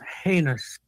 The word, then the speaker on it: heinous: The pronunciation of the word is heinous.